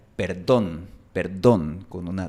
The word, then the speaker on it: perdón: Por ejemplo, la palabra perdón. Perdón. En la mayor parte del mundo esta palabra se pronuncia con una D suave. Perdón, perdón. Pero en Bogotá, Colombia, se pronuncia perdón, perdón, con una D fuerte.